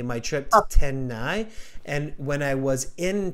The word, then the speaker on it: Chennai: I'm not familiar with it, so even spelling it for me is can you spell it for me? C-H-E N-N W-N A-I A-I Tenhai. Okay. Yeah. Chennai.